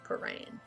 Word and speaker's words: Prahran: I also hate saying the name Paran. Because I feel like I'm saying it wrong even though I'm not. I'm saying it correctly. It is Paran. But it's like Prahran.